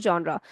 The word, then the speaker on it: genre: It is written as G n R but it is pronounced as genre.